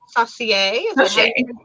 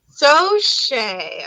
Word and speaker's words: Saucier: quite a fancy too louis yeah saucier luis sauce so shea okay i didn't even know how to pronounce my own boyfriend's last name i see when a